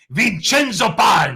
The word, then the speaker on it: Vincenzo: paglia joe joe joe say it like an italian vincenzo yeah there we go